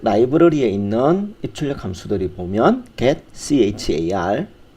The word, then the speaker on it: getchar: 문자열을요 입력으로 받고 또 출력하는 라이브러리들이 C에서는 제공되고 있는데 그 입출력 라이브러리에 있는 입출력 함수들이 보면 get char 혹은 get character라고 읽는데요.